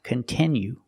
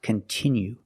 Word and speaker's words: continue: content that you like it's not pronounced continue it's pronounced continue we have to use a short sound e like this is we have the letter i which makes the sound e and it's a stressed syllable continue we cannot change